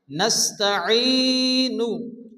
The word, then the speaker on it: نستعين: নাস্তাঈন, আইনকে ভালো করে উচ্চারণ করতে হবে।